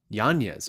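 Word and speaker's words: Yañez: mispronouncing yeah there's a there's a teal day over the end it's supposed to be Yan yanes okay I'll have to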